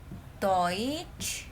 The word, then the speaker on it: Deutsch: Ingat ya, ini OI. Deutsch itu bacanya.